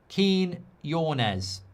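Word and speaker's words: Quiñones: I think it's pronounced Quinones.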